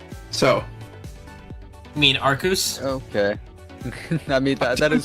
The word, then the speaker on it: Arceus: So You mean Arceus? Okay. I mean, that is kind of a Arceus, good thank point. you. How did you know I meant Arceus? Because of the That is the meme. only correct pronunciation.